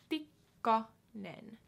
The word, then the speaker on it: Tikkanen: Tikkanen.